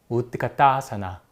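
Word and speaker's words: उत्कटासन: 대충 이런 형태로 하는 동작입니다 아시겠죠이 동작이 원래 발음은 우드가 따사나 이런 식으로 발음이 됩니다 그리고 또 하나가 바다코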